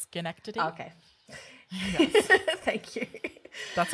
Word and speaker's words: Schenectady: But I also believe it's pronounced Schenectady.